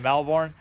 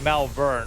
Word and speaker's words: Melbourne: Or like Melbourne, right? I'm saying it how it's spelled, though. Like Jason Bourne, Melbourne.